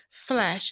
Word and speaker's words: Flèche: For anyone who hasn't seen it, Flesh is spelt F-L-E accent C-H-E, but it sounds a lot like F-L-E-S-H, and I don't think that's coincidental, is it?